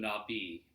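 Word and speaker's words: Nabis: they call themselves them not be our novice ma bis it's pronounced I think not B it means the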